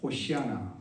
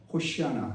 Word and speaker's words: 호시아나: 히브리어는 호시아나, 원래는 호시아나인데, 이게 이제 불릴 때 이제 발음되는 대로 그 음역을 따라서 헬라어에서 이제 호산나 이렇게 했습니다. 본래는 이제 호시아나 이렇게 이제 발음을 하거든요.